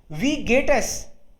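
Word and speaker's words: Wie geht's: वी हो गया, वी, और एच तो साइलेंट है बीच में, इसलिए ये हो गया वी गेट एस।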